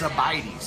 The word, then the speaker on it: Sabaidees: It's Sabaidees, like buy me a cup of coffee.